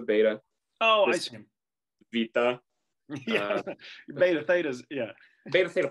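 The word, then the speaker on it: βήτα: It's Vita, okay? Vita. It's not hard to say. Vita.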